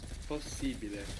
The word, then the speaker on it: possibile: So, possible becomes possibile, possibile. But we also pronounce the two S's.